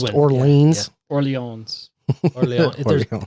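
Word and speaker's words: Orléans: Orleans. Orleans. Orleon. Orleon. If you're going to pronounce it like it's French, you don't pronounce the S. It's Orleon.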